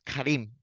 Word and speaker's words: Karim: Karim, pero porque fonéticamente así se pronuncia en árabe. En inglés literado era Karim, pero la gente no. En español es muy raro el que menciona Karim. Me dicen Karen, me dicen Karem, me dicen Kereme, me dicen de